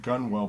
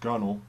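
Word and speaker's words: gunwale: but it's pronounced bow now this is like gunwall but it's pronounced gunnel it's the upper edge of of a boat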